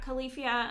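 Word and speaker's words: Califia: with it but anyway so it's the khalifa farms i think it's yeah kalifia i think is how it's pronounced farms they're almond milk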